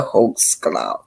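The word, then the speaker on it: Holtzclaw: c l a d That's how you pronounce his name Daniel hul claw he was a cop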